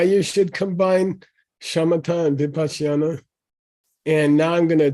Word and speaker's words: vipassana: it's Okay, vipassana.